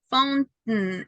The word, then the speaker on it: fountain: You have to stop on letter T, and then you only have the sound. Is that certain, mountain, fountain. It's like I'm not pronouncing completely this part. Okay, because I stop letter T, stop letter T. I do not pronounce this.